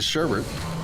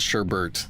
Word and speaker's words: sherbet: The sherbet sherbet sher sherbies. I don't know how to say it. We always said sherbet with an extra R in the second bet.